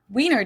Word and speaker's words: Wiener: The German W is pronounced like in English V, and it usually refers to the sausage.